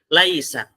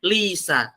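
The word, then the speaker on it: ليس: Laisa. Kan pasti bacanya laisa, nggak mungkin bacanya lisa.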